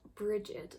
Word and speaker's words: Brighid: It's pronounced Brighid, so it's pronounced like Bridget, the name Bridget, if you've ever known someone called Bridget, except there's a D at the end instead of a T.